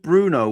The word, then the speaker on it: Bruno: Oh Here's another thing for you also with Bruno. We do not say in Portuguese the O at the end. It is silent letter. Brun.